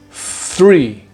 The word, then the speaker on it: three: For this one, immediately after making the TH sound, you need to pull your tongue back quickly and roll it into the roof of your mouth, like this. Three, three, three, three, three.